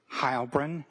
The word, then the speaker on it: Heilbrun: Yes, my name is Hybrin. That's spelled K I R K and then H E I L B R U N.